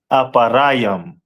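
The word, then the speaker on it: אפרים: And in Hebrew, it is pronounced as Aparayam.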